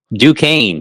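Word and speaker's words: Duquesne: Let's Yeah, you know, I can't pronounce this first team. Uh Dukane.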